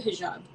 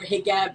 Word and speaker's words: hijab: I I wore the hijab or higab in in Egypt it's pronouncing in in